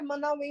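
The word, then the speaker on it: Manawee: E a pronúncia é Manauí mesmo, né?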